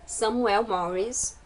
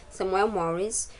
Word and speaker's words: Samuel Morris: é da editora Betânia Samuel morres se eu não me engano acho que é assim que se pronuncia Samuel Morris o autor é linda